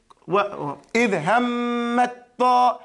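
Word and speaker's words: إِذْ هَمَّت طَّائِفَتَانِ: But see here, we're going to say, idhammat ta. When you don't pronounce the ta, it is eaten up by the ta. Hammat. Ta'ifatani. Idhammat ta. So you don't pronounce the ta, you go straight to the ta.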